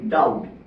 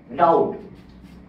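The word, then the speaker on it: doubt: এই যে একটা word D ও ইউ বি টি ডাউট ডাউট এই ওয়ার্ডটার মধ্যে বি সাইলেন্ট কিন্তু বিটা কেন এসেছে বিটা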